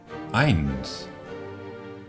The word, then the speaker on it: Eins: Eins. Eins. Cuando tengamos un diptongo EI, siempre lo pronunciaremos AI.